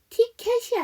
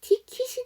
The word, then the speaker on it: ticket: 자, 그 다음에 마지막 단어인 ticket은 티켓이 아니라 티킷이 돼야 됩니다.